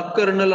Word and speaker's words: colonel: कर्नल Hunt, त्याला कर्नल असं वाचायचं, कर्नल पद असतं की नाही कर्नल, पण त्याचं स्पेलिंग वेगळं आहे, COLONEL.